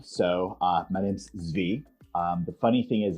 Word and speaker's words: Zvi: so uh my name's zv um the funny thing is it's actually like the israeli or the hebrew pronunciation but my great grandfather